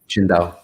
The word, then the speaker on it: Qingdao: How do you pronounce that? Qingdao.